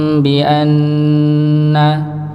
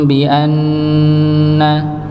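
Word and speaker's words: بِأَنَّ: ba ya berikutnya ee nun sukun eh nun sukun Nun tasydid ya Ini juga didengungkan dengan kadar yang sama Nggih ditahan alam ya'lam bianna alam ya'lam bianna ya di ditahan didengungkan ya berikutnya lafaz Allah ya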